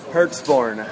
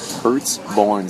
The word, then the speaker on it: Pertzborn: do you say your last name again bro hertzborne hurts born Siri recognized it earlier when I said Brett's